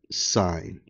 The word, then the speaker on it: sine: Okay, so this is pronounced like sine. Okay, so we would say the sine, we would say the sine of angle A, okay, that's how this is pronounced.